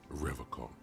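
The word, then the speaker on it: Revachol: He pronounces Revaccom with a hard K, unlike other people.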